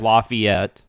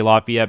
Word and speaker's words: Lafayette: some points in tennessee there's a lafayette uh and it's like lafayette uh everyone else in the united states would say lafayette but here it's there's